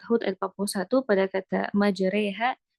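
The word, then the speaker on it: مجريها: Jadi itu untuk Quran surat Hud ayat 41 pada kata majreha bacanya mudah ya majreha ya.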